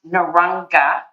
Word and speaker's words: Narungga: an elder of the narrow anger people is that how pronouncing it exactly pronounce naranga and I'm not actually